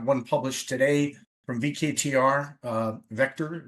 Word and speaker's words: VKTR: We do have one published today from VKTR, Vector is how it's pronounced.